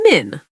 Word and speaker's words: Min: For example, my friend Min tells people it's Min, like minute, without the ute.